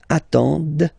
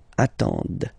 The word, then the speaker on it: attendent: And the last one, same thing, classic ending for il, elle at the plural form, ent, but then you don't pronounce them. Ils attendent, okay, so remember you get to pronounce this, d at the end, okay.